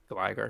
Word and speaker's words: Gligar: What do you pronounce Gligar as? Gligar.